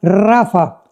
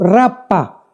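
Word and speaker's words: Rapha: tu Biblia la palabra Rafa. R de Raúl ha de Armando. P de Pedro, H intermedia de Armando. Rapa, pero se pronuncia en el hebreo rafa.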